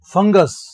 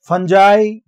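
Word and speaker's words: fungi: और एग्जांपल देखते हैं फंगस यूएस है तो यूएस कर दिया आई फंगी फंजा फंगई तीन उच्चारण होते हैं इसके फंगी फंगई और फंजा पना फंगी नहीं होगा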